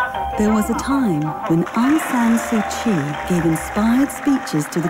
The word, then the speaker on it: Aung San Suu Kyi: Aung San Suu Kyi?